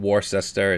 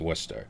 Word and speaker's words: Worcester: It's not and for you you people that aren't from Massachusetts, it's not Warsester, it's not Warchester, it's Worcester. We do have some very strange uh pronounc pronunciations for city names.